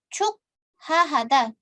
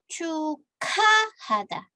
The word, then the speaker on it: 축하하다: Cuk hahada, cuk hahada. Ada giok kan di sini ya, bertemu dengan hiet. Giok bertemu dengan hiet, gioknya berubah menjadi kiok. Jadi dibacanya bagaimana? Bukan cuk hahada, tapi cukahada.